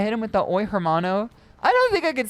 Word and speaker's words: hermano: The H is silent. Hermano. Armano.